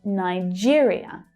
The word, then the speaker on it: Nigeria: And that might be because of Nigeria, Nigeria, where you hear the second syllable stressed. Nigeria. That's the ear as in here vowel sound.